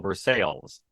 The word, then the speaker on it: Versailles: town in Southwest Missouri named after the French Palace that we call Versailles yes one in Kentucky as well that likes for sale so when you're in